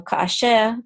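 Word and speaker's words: כאשר: a tavir, and so that means that the sh will get the accent, and tavir sounds like this, tavir. So kasher, troped, sounds like this, kasher.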